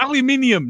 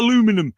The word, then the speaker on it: aluminium: point by the way it's aluminium not aluminum is